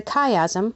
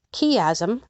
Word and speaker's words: chiasm: style of pattern the chiasm or key azzam correctly pronounced either way is the backbone of